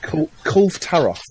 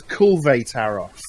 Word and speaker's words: Kulve Taroth: Called Kulv Taroth. Right. Which I only learned today. I've been pronouncing wrong since it was released. Well, how are you been pronouncing it? I've been pronouncing it as Kulve Taroth.